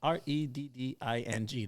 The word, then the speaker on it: Reading: He's helping me out on how to pronounce Reading. He said, pronounce Redding.